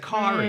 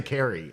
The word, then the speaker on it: Kari: she pronounces it Kari. Yeah. People have a hard time. They don't want to say Carrie.